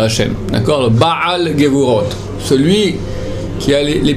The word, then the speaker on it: Baal: Bien prononcé Baal et pas Bal.